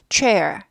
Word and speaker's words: chair: 이거 아니고 chair. 개념만 아시고 지웁니다. chair. 체어 아니고 chair. chair. R이 있으면 꼬부려요. 그래서 chair 아니고 chair 하고 꼬부립니다.